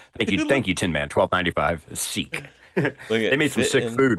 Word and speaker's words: Sikh: Wow, it's pronounced Sikh. I was wrong. It's Sikh, not chic. Sikh. I knew it was. I knew the way you said it. It wasn't sick.